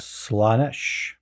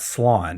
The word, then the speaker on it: Slaanesh: Well, it's not Slan. It's just Slaanesh, Yeah.